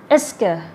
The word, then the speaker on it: est-ce que: เหมาะสำหรับหลายๆถ้าได้ที่เพิ่งเริ่มเรียนภาษาฝรั่งเศสนะคะอาจจะมีความสับสน S เธอใช้ยังไงหรือว่า kester ใช้ยังไงนะคะเดี๋ยวไปดูคำตอบในคลิปนี้ก็เลยค่ะต้องรู้ตัวแรกกันเลยนะคะ S Girl S Girl นะคะถ้าอาจจะเป็นคือเรซเซอร์นะคะแต่ว่าคนใรั่งเศสเขาไม่อ่านออกเสียงเหล่านี้ได้ชีวิตจริงนะคะจะอ่านว่า S Girl S เกิดนะมันจะร่วมคำนะคะความหมายนะคะคือจุดใช่หรือไม่เราจะใช้ในกรณีที่เราต้องการที่จะตั้งคำถามไปปิดนะคะคือจอบได้แค่ว่า v หรือว่าโหน่งนะใช่หรือไม่ใช่ถ้าในภาษาอังกฤษคือ Yes